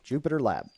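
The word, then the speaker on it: JupyterLab: going to be uh Jupiter lab and this is spelled uh j u p y t r l a b Jupiter lab so we'll get that installed now I'm not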